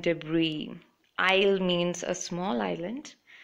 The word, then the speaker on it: debris: the S word is s letter is silent island Isle and debris i'll means a small